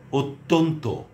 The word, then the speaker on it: অত্যন্ত: যেমন অদ্য, অন্য, অত্যন্ত, অত্যাচার, কন্যা, কল্যাণ। এটি কল্যাণও উচ্চারণ হয়।